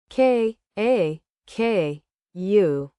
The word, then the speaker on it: kaku: K A K U. I write a letter. Kaku sounds like hack.